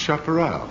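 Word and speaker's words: chaparral: into my mind the thought that it's generally pronounced chaperel it it's some kind of Western or Cowboy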